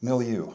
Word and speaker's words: milieu: milieu. How do you spell that?